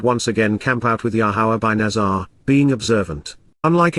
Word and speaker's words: Yahowah: Unless, Lubal, if not for the contrasting affirmation of, Yahowah, the proper pronunciation of Yahuwah based upon his Torah, teaching